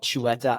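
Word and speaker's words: Xut: documentary film is called Chua Island and that's how do you spell that it's XU T it's with an X it's like a Chu cha sound in the local language here so yeah x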